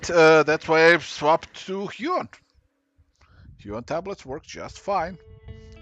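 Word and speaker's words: Huion: No, Huon, not Hewitt. Spelled like this.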